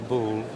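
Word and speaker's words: Boulle: type of furniture is called I know it's Bill Furniture but we don't know how to spell it or what variation of spelling you get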